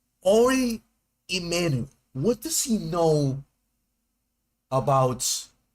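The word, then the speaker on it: Ari Emanuel: Oh, let me pronounce his name right. Ori Emanuel.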